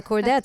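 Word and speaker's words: Chordettes: songs of the original and how do you pronounce this the cordet thank you the cordet popular in 1950s and include songs from the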